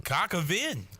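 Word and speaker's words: coq au vin: Cockavinde.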